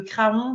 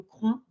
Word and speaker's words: Craon: sur les alentours de de Craon de cron excusez moi pour la prononciation de la Mayenne mais